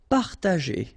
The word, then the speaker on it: partager: Partager, okay, parta, and then here, G and E after, well, R in that case, it's the sound E, so you pronounce it J, G, okay, partager, partager.